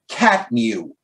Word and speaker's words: CTMU: and he even said the ctmu pronounced cat mew now now i'm sure